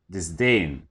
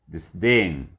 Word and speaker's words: disdain: It's pronounced disdain, disdain. The stress is on the second syllable.